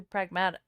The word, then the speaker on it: Pragmata: For real though, someone should ask him how you should pronounce pragmatic, because he's saying pragmata. It's just it's actually pragmata, because pragmatic.